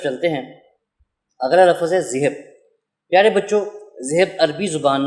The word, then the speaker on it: ذہب: پیارے بچوں، زال کو نرم انداز میں بولنا ہے اور ہے کو ہوا سے نکال کر بے پر آپ نے اپنے لب جو ہیں وہ بند کر لینے، ہونٹ جوڑ دینے ہیں۔ اس کا تلفظ اس طرح سے ہوگا، ذہب۔ شاباش۔ تو چلیے اگلے